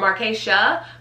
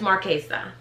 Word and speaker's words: Marchesa: typically say marquesa or markeisha but it's marquesa marchesa actually it's a z that s is pronounced as a z so it's marquesa marchesa